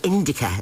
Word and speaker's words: Indica: promise i'll play um did you say it um idika or ins so indica that's how you say